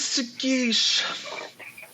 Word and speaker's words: Sagish: Well, everyone, this is Sagish. Rhymes with quiche.